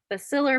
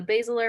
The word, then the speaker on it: basilar: And the process of transduction happens through this thing called the basilar membrane. I've also heard it pronounced the basilar membrane, so you might hear it pronounced a couple of different ways.